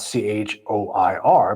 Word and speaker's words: choir: So, we kind of just have to deal with stuff like choir spelled C H O I R but pronounced choir like with a K or Colonel, the one we talked about before.